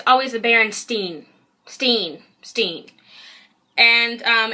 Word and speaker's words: Berenstain: Steen. And it's spelt B-E-R-E-N-S-T-E-I-N.